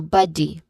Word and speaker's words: body: First syllable is ba, which is a stressed syllable. It uses a short sound. And then D, it uses a short E vowel sound. So body.